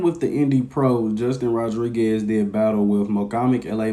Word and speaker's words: Rodriguez: right now but justin rodriguez name has been coming up a lot and make sure when you guys pronounce his last name you roll those r's but i want to